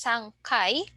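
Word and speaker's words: 三回: for GU so uh remember in frequency three times is just s Kai but for the number of floors the third floor is San guy otherwise the other uh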